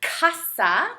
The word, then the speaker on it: casa: So you have two ways that you can pronounce the letter C, such as casa with the hard C sound, or cerveza.